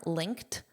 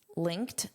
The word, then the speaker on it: linked: This is always in the ed form linked. Linked. Notice that pronunciation of the t linked.